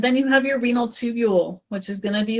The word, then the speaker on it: tubule: Professor, how do you pronounce the second one? Renal, the one that starts with a T? Tubule. Tubulo?